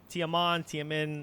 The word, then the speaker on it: Tioman: But we'll get into the Tioman, or I always mispronounce it. Tioman.